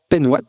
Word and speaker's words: Penhoat: tu peux te présenter qui est Louise cbant penouat j'espère que je prononce bien et quel âge as-tu qu'est-ce que